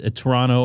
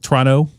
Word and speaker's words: Toronto: when it split uh one uh 1-1 in Toronto and we're talking about baseball by the way, the Dodgers and the uh Blue Jays. Toronto, not Toronto.